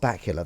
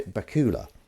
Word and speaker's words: Bakula: good Jessica Dell yeah Scott Bakula that is how you pronounce it isn't it I think I didn't know how to pronounce it and then I heard someone else I used to say Bakula I think I'd go for Bakula if it was me floggy